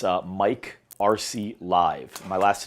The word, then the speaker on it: Arce: also follow me on instagram it's uh mike rc live my last name is spelled a-r-c-e so mike rc live and i'm